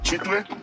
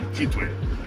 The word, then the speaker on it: Kitwe: elephant so it's sure it would be like chitway now the white people would not pronounce it for it so they say ketu and that's but the